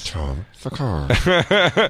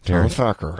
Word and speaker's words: Thakar: is Tom Thakar. It is not Tom Thacker. Is an A.